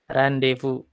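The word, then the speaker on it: rendezvous: ya ketemu-ketemu D1 waktu Hai nih bahasa Perancis Nia new cara bacanya agak beda dengan tulisannya ah apa ya setelahnya pom nya nggak sama randevu Hai Oke jadi kalau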